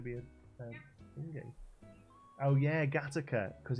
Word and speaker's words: Gateacre: Oh yeah, Gattaca, because it's spelled Gateacre. That's by where your mum is, isn't it? Yeah, Gateacre, which is pronounced Gattaca.